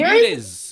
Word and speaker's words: Muniz: Oh my god, Siri cannot pronounce that name. What Angel Muniz? Muniz.